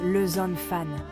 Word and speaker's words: les enfants: sont uniques au français la liaison est cruciale ou une consonne muette et prononcé avant une voyelle par exemple les enfants se prononcent le zone fan la pratique rend parfait